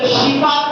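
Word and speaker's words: شفاء: கொடுக்க கூடியவன் அல்லா அல்லாஹ் ஷிபா கொடுக்க கூடியவன் அல்லாஹ் நிறைய பேர் வந்து ஷபா துவா கொடுக்கறோம் அடுத்தவங்களுக்கு அடுத்தவங்களுக்கு ஷபாவுடைய துவா கொடுக்க வேண்டும். அந்த வார்த்தை கூட நிறைய பேர் தவறாக உச்சரிக்கிறார்கள் ஷபா என்ற வார்த்தையை பயன்படுத்துகிறார்கள் ஷபா கிடையாது.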